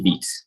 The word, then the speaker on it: Vite: through right okay so that's the wrong pronunciation it's actually beat we'll be going to